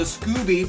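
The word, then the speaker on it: Scobee: Now, if you like stars, check out the Scooby Planetarium. The Scooby Planetarium is spelled S-C-O-B-E-E.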